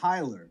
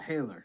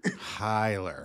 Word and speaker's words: Hailer: wrong so it's well the only people that get it right are German people and sometimes Brazilians so I'm not mad